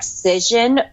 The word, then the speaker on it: Cision: So the number one thing that PR agents do is they subscribe to media databases like Cision, that's spelled with a C, C-I-S-I-O-N, Meltwater, or Muckrake.